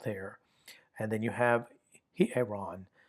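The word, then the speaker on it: ἱερόν: And then you have hieron. Remember the rough breathing has an H sound? Hieron.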